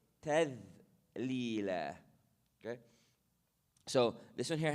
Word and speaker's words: تذليلا: قطوفها تذليلا. The dhal, again, tip of the tongue, edge of the teeth. تذليلا, light. You don't say تذليلا, you say تذليلا.